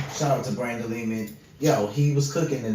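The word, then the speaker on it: Lehman: So, um, go check Brandon Leman out.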